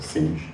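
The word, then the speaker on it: Sines: We're we're an hour drive down in in Sinez or Sing as it should be pronounced which is one of the largest um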